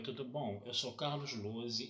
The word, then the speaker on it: Lohse: E o meu canal no YouTube é Carlos Lose. Lose se escreve Lohse e é com Z.